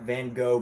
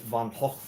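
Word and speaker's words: Van Gogh: who he is but that's not how you say it. And then they corrected me. So, in that moment, I was like, you know, maybe I should try to pronounce his name properly. So, we're going to take this uh Van Go brand, Von Hulk.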